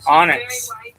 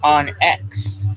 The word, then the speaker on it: onX: He keeps calling it onx, but I would call it onx because that's how it's spelled. O N dash x like x marks the spot.